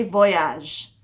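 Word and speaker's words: voyagent: it ends in ent whenever you're saying they the verb is going to end in ent but you don't say the ent you just say voyage but you're going to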